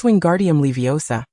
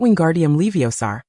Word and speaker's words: Wingardium Leviosa: Remember, it's wingardium leviosa, not wingardium leiosaar.